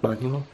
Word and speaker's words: Manuel: Manuel? Not reading the manual. Manuel.